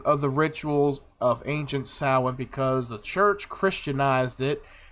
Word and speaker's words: Samhain: Halloween traditions on the West, or in the West, date back thousands of years to the festival of Samhain, pronounced as Samhain, or Samhain, the Celtic New Year's festival.